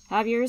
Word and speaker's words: Javier: Javier, because it's pronounced an H, not a J. Javier said to read the spell backwards.